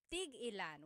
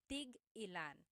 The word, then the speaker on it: tig-ilan: So tig-ilan, when there's a hyphen in it, you have to have that glottal stop. Tig-ilan.